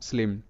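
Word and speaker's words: slim: এম তে ম স্লিম কেন রসিকারের মত হবে এখানেও ওটা ভিসি রুল কাজ করছে কারণ আই হলো ভাওয়েল অর্থাৎ এই ভি এম হলো কনসোনেন্ট তার মানে সি সি রুল আর নরমালি এখানে বুঝতে পারো যে এখানকার প্রত্যেকটি শব্দে আই এর পর জাস্ট একটা করে কনসোনেন্ট আছে তারপর আর কিছুই নেই তাই কিন্তু আই এখানে রসিকার হিসেবে উচ্চারিত এবার এখানে দেখবো ভি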